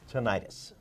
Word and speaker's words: tinnitus: He's going to tell us what can be done for people who suffer with tinnitus. Tinnitus, or some people pronounce tinnitus, is a form of ear or inner head noise that only that person can perceive.